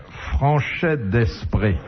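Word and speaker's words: Franchet d'Espèrey: Et là, il faut distinguer entre la prononciation et l'orthographe du nom. C'est pas exactement la même chose. Se nommait franchette d'esprit et ça s'écrivait franchis d'espéret.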